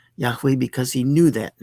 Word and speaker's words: Yahweh: Uh sometimes pronounced Jehovah, but that's not correct.